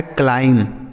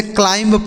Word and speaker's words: climb: यह जो बी लिखा है ना बच्चों, यह साइलेंट है, इसका सही उच्चारण होगा क्लाइम। बहुत सारे लोग होते हैं इसे क्लाइंब पढ़ते हैं, क्लाइंब, लेकिन क्लाइम ब नहीं पढ़ा जाएगा, क्लाइम।